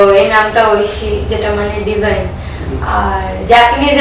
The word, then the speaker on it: ঐশী: কিন্তু অনেকে ও লেখে, মানে বিকজ ইটস আ নাউন, তো যে যেভাবে লিখে, কিন্তু আমি যেহেতু স্পেলিংটা AI লিখি, তো ওটাই লিখে আসছি, ওটাই আছে, কিন্তু আমার প্রোনাউন্সিয়েশনটা যেটা ঐশী।